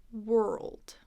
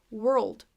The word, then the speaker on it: world: light or clear L dark L is at the end of a syllable oh and then add the D dip world world world if you don't